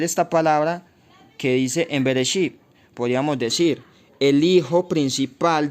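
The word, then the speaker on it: בראשית: Ahora aquí en la palabra Bereshit tenemos estas tres frases que dicen bar, que se puso como bara, o sea, bar, shit, bar, shit, así se pronuncia separado, pero juntas son Bereshit.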